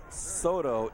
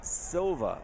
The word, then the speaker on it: Silva: director Bernie Johnson that number 35 is not stto it's Silva so Randall Silva so he's